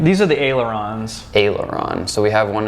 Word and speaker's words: Aileron: And how'd you say you pronounce that name? These are the ailerons.